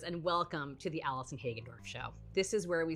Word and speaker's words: Hagendorf: ha show that's how you say her name hack andorf I think I'm going hello my fellow music lovers and welcome to the Allison hagendorf show this is where we celebrate the universal